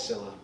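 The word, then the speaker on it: Scylla: Sil okay well Sila Sila how do you pronounce it it's Sila I know the story that apparently with Mothra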